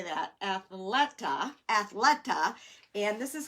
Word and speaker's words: Athleta: went to athletic how do you say that athleta athleta and this is how big the trend